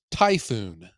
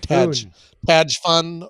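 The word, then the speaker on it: Tajfun: it's pronounced it does then you pronounce it just like the storm yes tyoon not Taj fun or tfon or it is a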